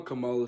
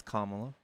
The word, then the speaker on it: Kamala: No, I'm a Camala supporter. But I want to say what I got to say about Camala. It's Kamala.